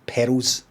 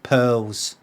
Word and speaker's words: pearls: uh pero's either so I pronounce the word the word perils as in diamonds and petals I don't speak properly so I don't say it properly which is pearls pearls p-e-a-r-l-s pearls pearls pearls I